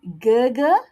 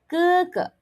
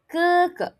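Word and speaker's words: 哥哥: Elder brother is pronounced as Okay, it's not gaga. Remember, it's not gaga. G becomes K. So, when you pronounce it, change it to K and do not blow. So, you're going to say it like this. keke keke keke keke All right.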